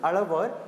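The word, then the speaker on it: Alvar: as alar and Nar okay listen to the pronunciations alavar and Nar though the textbooks right Nar it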